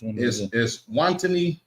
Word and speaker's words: Eswatini: The highlights this week: Africans expressed outrage over the Trump administration's deportation of immigrants to how you pronounce that, sir? Eswatini.